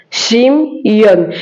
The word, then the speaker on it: Shimon: Siméon se dit en hébreu Chimon et s'écrit de cette manière Shimon.